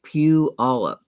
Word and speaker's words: Puyallup: Okay, it's pronounced Puyallup. Oh, okay, Puyallup.